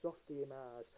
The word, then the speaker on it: Softimage: Because again, this was done in primitive 3D modelling applications, aka Softimage, which is the correct way to pronounce it.